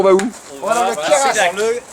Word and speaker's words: Queyras: On va dans le Keras. À Seyac. Seyac. On va à Seyac combien de temps? Le Kera, on ne prononce pas le S.